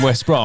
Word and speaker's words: West Brom: So when those guys were asking and you were saying West Brom, And you were pissed off you about it. lying Oh. motherfucker. I mean, it's pronounced West Brom, but the planet, I'm not.